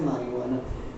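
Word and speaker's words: marijuana: जे silent होता है इस वजह से मारिजुआना।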